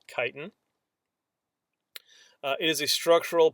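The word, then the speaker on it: chitin: okay another type of structural polysaccharide is called kiten that's how that word is pronounced I see people who like read the word and then they'll be like what's chitt I'm like no it's it's actually called kiten uh it is a structural polysaccharide uh arthropods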